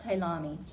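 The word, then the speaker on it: Ptolemy: about these guys Egypt went to um uh talami spelled with a p is pronounced talami and we're going to talk about him a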